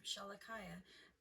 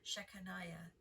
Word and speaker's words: Shechaniah: After him repaired also Shemaiah, the son of Shalakiah, the keeper of the east gate. I'm sorry, I pronounced that name wrong. Shechaniah, the keeper of the east gate.